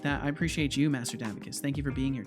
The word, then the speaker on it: Davicus: I appreciate you, Master Davicus. Thank you for being here. Davicus, not Davicus. That's right. That was the mispronunciation I did originally that I will never do again.